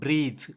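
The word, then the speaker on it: breathe: ஸோ இதை நம்ம பிரீத் அப்படின்னு சொல்லி தான் நம்ம ப்ரொனவுன்ஸ் பண்ணுவோம். இது ஒரு வேர்ப். அதுவே கடைசியில் இருக்கிற அந்த இ இல்லை அப்படின்னா அதை நம்ம பிரெத் பிரெத் அப்படின்னு சொல்லி தான் ப்ரொனவுன்ஸ் பண்ணணும், அது ஒரு நவுன்.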